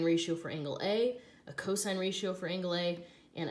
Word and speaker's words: cos: will find the abbreviations SI n which is still pronounced sine cos which is still pronounced cosine and ta n which is still pronounced tangent so we do not call these sin coasts or tan that never happens they're always sine cosine and tangent okay so these